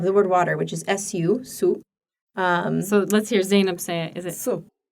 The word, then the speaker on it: su: They didn't understand your pronunciation of the word water. Of the word water, which is su, su.